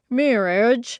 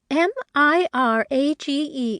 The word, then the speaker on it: mirage: for valency to give it up he added marriage and marriage m-i-r-a-g-e is pronounced Mirage said valency shortly picking up her